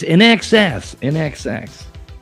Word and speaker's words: INXS: 2, Inxus, INXS. 3, Def Leppard, or 4, AC/DC. Yeah, it's NXS. I need you tonight. That's not the answer, but that's how you say it.